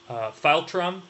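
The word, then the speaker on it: philtrum: that amount of space smaller teeth a nun pronounced file Trump remember the file trim is that space in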